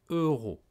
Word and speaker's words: euros: les prix en euros il faut bien prononcé euros eu ro eux la bouche un peu en avant un peu ronde eu ensuite rupo bien respirer et raw en relâche l'air avec la gorge eu ro alors écoutez et répété